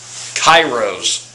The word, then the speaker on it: Kiros: I know I'm going to butcher their name. Kiros.